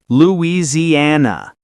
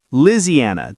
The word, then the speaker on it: Louisiana: Louisiana. Some southern speakers say Louisiana, dropping a syllable.